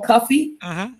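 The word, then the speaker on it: Cuffe: he talks about Paul Paul Cuffy pronounced Paul Coffey right but Paul Cuffy had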